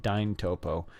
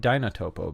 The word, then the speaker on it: Dyntopo: to pronounce this but dine topo i used to call it dinotopo but then i noticed there's no n so let's go back